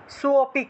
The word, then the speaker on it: सोऽपि: সোপিক, এই যে আগের মতোই, এখানে লুপ্ত অ ছিল, লুপ্ত অটাকে আমরা টান দিয়ে উচ্চারণ করলেই লুপ্ত অ অটোমেটিকভাবেই চলে আসে। এখানে আলাদা করে অ উচ্চারণ করবেন না। এখানে অটা লিখে দেওয়ার কারণে অনেকে অটাকে আলাদা উচ্চারণ করে ফেলেন। এখানে সোটাকে একটু টান দিয়ে উচ্চারণ করতে হবে।